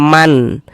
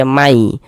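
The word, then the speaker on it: مَن: Jangan dibaca man. Man yuhil jangan. Tapi dibaca may.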